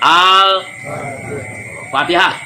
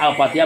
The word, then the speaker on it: Al-Fatihah: dalam surat pertama, surat Al-Fatihah. Tolong bacanya Al-Fatihah bukan Al-Fatihah.